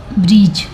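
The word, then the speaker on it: bridge: है तो न रो ब्रीज अब देखेंगे बज लेकिन जी के पहले डी आया है तो यहां पर डी साइलेंट है इसलिए इसको नहीं पढ़ा जाता है तो इसको बोलते हैं ब्रिज ठीक है इसको पढ़ते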